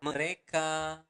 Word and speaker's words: mereka: So, mereka makan setiap hari. Okay? One more time, slower. Mereka makan setiap hari. So, going to pronounce the letter R clearly. Mereka. Not mereka, but mereka makan setiap hari.